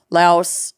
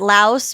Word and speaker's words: Laos: Korea, Goa, Vietnam, Okinawa, Laos. Is it Laos or Laos? Laos, I think. We pronounce it Laos, but people in Southeast Asia pronounce it Lao.